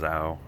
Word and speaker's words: NAO: It's NAO. I'll show you those here in a minute. So these are the NAO headlights. It's spelled N-A-O, but I've seen that it's actually pronounced Zao or Zhao.